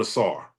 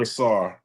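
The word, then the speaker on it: Ausar: I'm I'm doubling and tripling down on Assar. So the S is like a strong pronunciation. Like like your your your emphasizing the S. It's not a soft S. It's Assar. going with Assar.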